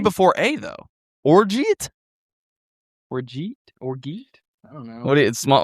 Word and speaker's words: orgeat: Orgy. Orgy. We use orgy syrup for this. Orgeat. According to Google AI, which as we know is always correct, it says pronounced Orzat.